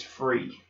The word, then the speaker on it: Fri: but my name is free free free and for those who's writing it down for remembering it's actually spelled Fri but it's pronounced free all righty as he